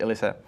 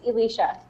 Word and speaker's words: Alysa: I pronounced it right Elisa was that right no it's Elicia Elicia and what's your last